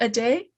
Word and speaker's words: ADAY: company i'm sorry um is it a day yes yeah okay i know